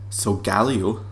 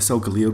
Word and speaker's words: Solgaleo: I think it is, Solgaleo, or Solgaleo. I was thinking Solgaleo because of the line, like this sort of the zodiac sign, Leo, but Solgaleo I think